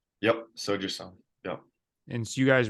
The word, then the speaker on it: Sojasun: And you were with Riley on, is it pronounced Sojasun? Yep, Soju Sun.